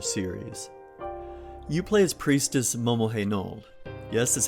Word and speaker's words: Momohenold: You play as Priestess Momohenold. Yes, that's how you pronounce it.